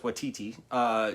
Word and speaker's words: Waititi: I know it's Waititi.